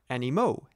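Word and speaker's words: animaux: more than one are Animo ending in a ux do not pronounce the X these Animo live on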